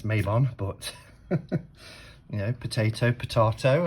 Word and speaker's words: Mabon: bond however it's pronounced i pronounce it my bond but i have been corrected it's mabon but you know potato